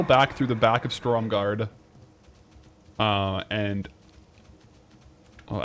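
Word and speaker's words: Stormgarde: What I'll do is I'll go back through the back of Storm Guard. Uh, and oh, actually it's Stormguard, not Storm Guard.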